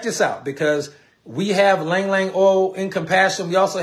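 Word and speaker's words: Ylang-ylang: Now, another oil that's really cool that y'all probably familiar with in compassion is Lang Lang oil, not Ylang Ylang. It's Lang Lang. The Y is silent.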